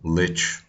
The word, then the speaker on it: lich: And I can tell you exactly how lich, it is the right way to pronounce it, is meant to be pronounced.